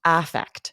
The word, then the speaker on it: affect: affect with an A, it can be a noun, but it's almost always pronounced affect.